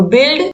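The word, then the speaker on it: build: तो बिल्ड, बिल्ड, गिल्ट, गाइड, guess, इन सभी में जो यू है वो क्या है? साइलेंट है।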